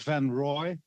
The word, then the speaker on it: van Rooij: Van, maybe you can correct me van Rooij? Thank you, Mr. Chair. My name is van Rooij. It's like ROI when it's yeah, pronounced.